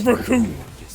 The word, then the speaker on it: Raccoon: The name's Raccoon. It rhymes with doom.